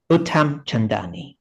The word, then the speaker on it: Uttamchandani: Professor, I cannot pronounce the second name correctly, Professor. So it's, Carry on. sorry, Professor It's Uttamchandani.